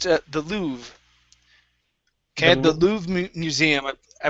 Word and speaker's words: Louvre: This here is pronounced the Louvre.